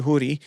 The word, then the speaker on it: Houry: y like like ay but you pronounce it hoodie and her last name